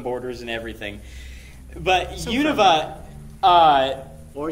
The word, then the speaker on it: Unova: But so Unova, or Unova, if you say it weird or right, I don't know how to say it. It's Unova.